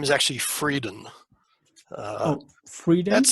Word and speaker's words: Freidin: um hi so yes it's my dutch background and it's a little bit like german and um that's that's